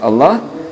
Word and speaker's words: Allah: Saya ulangi, di sini ada lafzul jalalah atau lafaz Allah ya, huruf sebelumnya di kasrah, maka disebut dengan hukum bacaannya adalah dibaca tarqiq atau tipis.